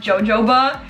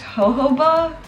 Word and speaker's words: jojoba: i'm saying it wrong i know it's not jojoba i feel like it's pronounced ho ho ba but i could be wrong again so i'm very